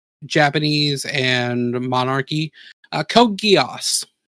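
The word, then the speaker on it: Geass: Uh, Code Guos. Yeah. What? Oh, I've C code. Uh, Gios is spelled G E A S.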